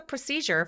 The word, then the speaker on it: procedure: What's the procedure for late checkout? 이렇게 물어봐 주시면 돼요. 레이트 체크아웃의 절차는 어떻게 되나요? 라는 문장인데요. procedure라고 할 때 이거 발음 한번 해볼게요. procedure. 이음절에 강세가 오니까 pro는 힘을 좀 빼고 시작해 주세요.